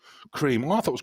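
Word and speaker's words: Kreme: Um, oh, it's spelled wrong, but it's still pronounced cream.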